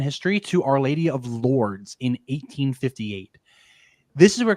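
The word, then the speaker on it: Lourdes: think it's technically L I think the S is silent so it's Lord or if you really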